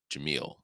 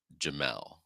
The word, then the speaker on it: Jamil: Her name is Jamil, and I pronounced it Jamel or something like that.